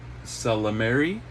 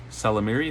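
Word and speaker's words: Ysalamiri: I think it's pronounced Salamiri. Salamiri, I think the Y is silent.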